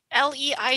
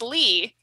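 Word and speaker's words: Leigh: we talk about how Lei G is pronounced Lee and not Le like SLE i g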